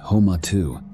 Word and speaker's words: Homatau: The second level, which is the middle level, is Homatau, pronounced Homatu.